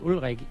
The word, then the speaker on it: Ulrich: So guys, one of the reasons I thought Ulrich, which is, the Danish pronunciation of his name, but Ulrich, the reason I thought